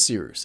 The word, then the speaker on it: Cyrus: below My name is Cyrus. It’s spelled like “Cyrus,” pronounced like “See Rooster,” just take out the “ter” Thank you very much for watching and have a wonderful day!